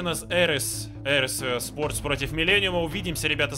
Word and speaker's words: ARES: What does I believe it's pronounced ARES?